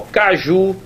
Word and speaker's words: caju: Caju, eu estou sublinhando aqui a última sílaba, é a tônica, né? Professor, caju não tem acento não?